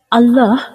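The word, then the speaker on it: اللهُ: স্বাভাবিকভাবে যেভাবে পড়ি সেইভাবে আল্লাহু শব্দের লামটি এক আলিফ অর্থাৎ এক সেকেন্ডের মত টেনে পড়তে হয় আল্লাহু আল্লাহ শব্দের মোট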